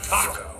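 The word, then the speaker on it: TACOS: I call it the Tentacle Arm Craggle Outside Sprayer, or Taco. The S is silent.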